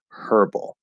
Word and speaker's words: herb: But yeah, herb or herbal. That's just how most Americans say it.